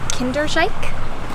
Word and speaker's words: Kinderdijk: Made it to, we heard people pronouncing it as Kinderdijk, so hopefully that's a little closer to the correct pronunciation.